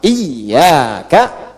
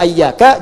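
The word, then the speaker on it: إياك: Iyyaka, iyyaka, iyyaka. Jangan dibaca sebagai ' ayyaka', jangan dibaca sebagai 'hayyaka' dalam doa, kan? Dan jangan dibaca sebagai ' iyaka'. Bagaimana cara membacanya? Iyyaka.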